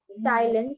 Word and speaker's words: ptyalin: P is silent. P is sorry. silent over there. Ptyalin, salivary amylase, converts starch into maltose.